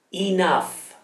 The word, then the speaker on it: enough: la so e not enough inaf gh in questo caso si pronuncia come una f ma la girata a